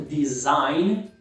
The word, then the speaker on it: design: Esse verbo aqui é fácil, você provavelmente já fala certo, design. Só lembra que o G não pronuncia, né? O G é silencioso. Design.